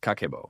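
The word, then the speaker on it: 家計簿: Kako, pronounced Kakbo, literally translates to household financial ledger.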